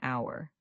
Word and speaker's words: hour: The H is silent, so it sounds exactly like our.